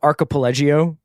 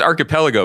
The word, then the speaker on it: archipelago: By the way, I think that you just made that word Italian. What? How do you pronounce it? I think it's archipelago, but you sort of like were thinking of the Voltaggio brothers.